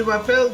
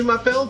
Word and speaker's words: m'appelle: Maybe it's the way she seemed to think m'appelle rhymes with my apple. Sit down, Patty. Yes, Madame Bouvier, right. Madame Bouvier.